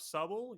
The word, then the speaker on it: Subble: That's Subble spelled Subble. So it rhymes with bubble.